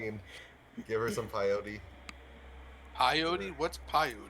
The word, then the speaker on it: peyote: Peyote? What's peyote? It's peyote. Peyote. He just Peyote. can't pronounce it.